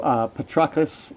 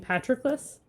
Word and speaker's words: Patroclus: blood, so honoring his dear son, him who Patroclus had foredoomed to slay in Troy's rich soil, far from his native land. You mean Patroclus?